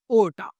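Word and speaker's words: Horta: नाउ the second architect is Victor ओटा। Right? H silent रहेगा। तो आपको ओटा ही पढ़ेंगे इनको।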